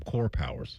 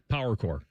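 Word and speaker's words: CorePower: We're so used to saying it wrong that we intentionally tried to say it wrong, which made us say it right. Power core.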